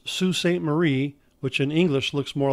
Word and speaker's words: Sault Sainte Marie: for the Straits and the other one is pronounced SU Sainte Marie which in English looks more like it be pronounced Sault Sainte Marie these forts were in strategic locations to control